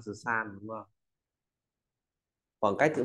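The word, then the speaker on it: 三: dưới nét ngang dài ta có từ Tam là số ba đọc đọc là San ta nói San San San à Thấy chữ San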